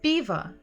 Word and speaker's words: пиво: If we will listen to the stress, пиво. Пиво. Пиво. The first letter is stressed, the first syllable is stressed. P, P. So even if we hear at the end sound a, we know that it's probably o because it's not stressed. So it will be пиво.